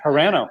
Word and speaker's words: Carano: Carano, that's right. Carano, sorry. No, Carano, you're right. Carano, Right. Yeah, good job. I think I say it right.